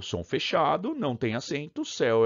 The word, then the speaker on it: céu: Por que céu é aberto, seu é o som fechado, tá vendo? O que justifica esse acento aqui no céu? Só porque a pronúncia é aberta.